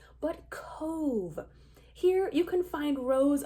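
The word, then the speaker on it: Cobh: also head to Cove which is a Gaelic word and not pronounced Cobb in the way that it looks to our English eyes but Cove here you can find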